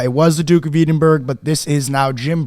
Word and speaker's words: Edinburgh: B BG burrow mhm shout out Edenberg is it Edenberg that's how it's spelled Edinburgh Edinburgh you were close from jelly I think